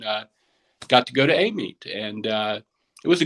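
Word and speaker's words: Amite: do we pronounce it apparently they call it a meet which you know it's a-m-i-t-e which i would never think amy but louisiana is weird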